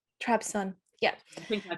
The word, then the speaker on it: Trabzon: by saying it right well it changed its name so it was trebezoned well back in the days before she wrote the towers of trevor's on but now it's trabzon trabson yeah i think i